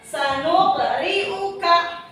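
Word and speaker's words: سَنُقْرِئُكَ: Sanuqri'uka. Ini cara bacanya harus dipantulkan ya. Bukan sanuk, tapi sanuk dipantulkan. Sanuqri'uka.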